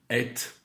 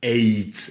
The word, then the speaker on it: ate: j'ai entendu parfois les anglophones dire quelque chose comme ate. Mais c'est plutôt un accent, et bizarrement, c'est parfois écrit en phonétique, comme ça, dans certaines listes de verbes irréguliers, on met les deux prononciations possibles. Alors, moi, je préfère que mes élèves et mes étudiants disent « ate » au prétérit avec la diphtongue.